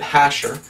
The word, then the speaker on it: Jasher: read the book of Jasher I said what's the book of Jasher or others pronounce it hasher and I said okay